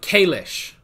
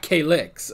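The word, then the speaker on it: Cailleach: IL e a CH so like Kalish not K licks okay the Kalish oh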